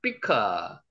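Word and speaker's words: בקעה: 비크아. 이것도 된 발음이니까 쌍비읍 발음이 더 맞습니다.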